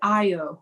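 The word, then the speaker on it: Ayọ: Anyway, Craig and I would do the Io. Io is spelled A-Y-O.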